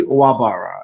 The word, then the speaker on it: Nwagbara: why don't you tell us what it is pronounce it for us uh it's actually wabara it's it's okay it's relatively simple it's just